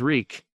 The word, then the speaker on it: Reek: named him reek reek my name is reek it rhymes with bleak he had to remember